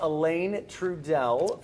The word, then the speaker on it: Alain Trudel: Uh and we're joined now by Elaine Trudeell from Live Arts Toledo.